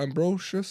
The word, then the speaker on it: Ambrosius: It's Marsha Ambrosius.